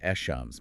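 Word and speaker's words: الشمس: letters, the solar letters, you don't pronounce the L at all. Instead, you double the sound of that next letter. Like an echams, meaning the sun.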